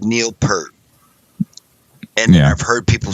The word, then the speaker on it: Peart: Okay, I've always said Neil Peart, and then I've heard people say Neil Peart.